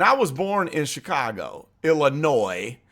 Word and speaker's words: Illinois: And I was born in Chicago, Illinois, not Illinois and not Illinois. It's not E-L-L, and you don't pronounce the S at the end.